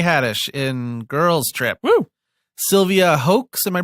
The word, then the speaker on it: Sylvia Hoeks: Sylvia Hoeks, am I pronouncing that right?